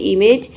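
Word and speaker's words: image: अनदेखा करना उसी तरह से यहां पे देखिए इमेज इमेज मींस होता है छवि या फिर प्रतिमा इमेजिन इमेजिन इसको प्रोनाउंस करते हैं इमेजिन इमेजिन मींस होता है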